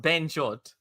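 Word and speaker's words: bhenchod: I need my Rohan translator here, so and it's pronounced Ben Jod.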